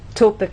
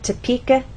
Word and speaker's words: Topeka: kin or Ken so we do not say topic Atkins ass the correct pronunciation is Topeka Kansas get it exercise to listen to the